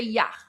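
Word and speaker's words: یخ: he says yah, so yak means ice, but we we don't say y that that's like a crazy way of we we just say yah.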